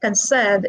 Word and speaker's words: conserve: than the other syllables so when i say conserve where is the stress it is on the second syllable because conserve is a verb okay next what about